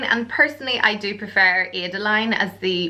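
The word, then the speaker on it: Adaline: Next, it's the name Adeline, spelled A-D-A-L-I-N-E, or you could pronounce it Adeline, and personally I do prefer Adeline as the pronunciation, and then you can shorten it to Ada.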